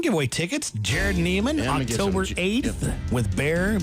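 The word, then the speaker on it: Baxar: Jared Neiman, Yeah, I'm gonna give October some- 8th with Bear, B-A-X-A-R is how it's spelled, but it's pronounced Bear.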